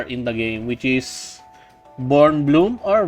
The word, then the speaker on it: Bkornblume: I butchered her name I'm just going to call her born Bloom silent k so yeah she is